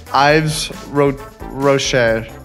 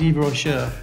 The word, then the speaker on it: Yves Rocher: Because it's French, it's a bit like the silent H you mentioned earlier. The Y becomes Yves. You don't pronounce the Y either. So it becomes Yves Rocher.